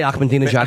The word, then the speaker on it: Ahmadinejad: I just wanted to say Ahmadinejad and prove I knew his name. I just wanted to sound smart. You pronounced that correctly.